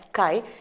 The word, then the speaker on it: chi: the greek simple on a greek pronunciation it's known as sky then i can negotiate